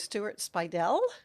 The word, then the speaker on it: Speidel: And we are back with Stuart Speidel.